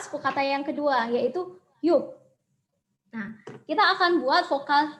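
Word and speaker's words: 육: Nah, ini bacanya adalah yuk.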